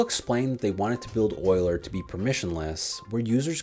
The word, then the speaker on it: Euler: after a swiss mathematician whose name is actually pronounced euler so everyone jot that down they started the